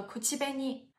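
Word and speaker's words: 口紅: 气呗你，它也写作汉字，写作口红，读作口气呗你。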